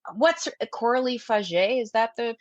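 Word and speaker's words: Coralie Fargeat: And you look at even like, what's Coralie Faget? Is that the pronunciation? Did I just ruin everything? I think I've pronounced Coralie Faget in my head forever, but apparently it's Coralie Faget.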